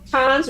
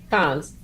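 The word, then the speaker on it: Cannes: Yeah, I knew it was Can. Okay. Thank you. No, and it's pronounced Cons, right?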